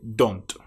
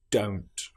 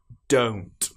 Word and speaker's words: don't: For example, many people will say don't instead of don't. They use the short o sound don't. But this is incorrect. It needs to be o don't. I don't.